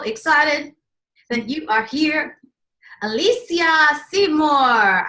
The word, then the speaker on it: Alysia Seymour: that you are here Alesha Seymour I like to say your name you pronounce it right from the bag that's amazing I try